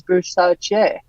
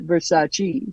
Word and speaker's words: Versace: this one wrong Versace the correct pronunciation is verace not Versace so I got that